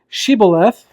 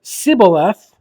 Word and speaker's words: Shibboleth: So, verse number 6, they told him, please say Shibboleth. If he said Sibboleth, because he could not pronounce it correctly, they seized him and executed him at the fords of the Jordan.